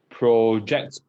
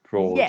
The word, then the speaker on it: project: It's a little different for both of them, right? So this is actually an or sound.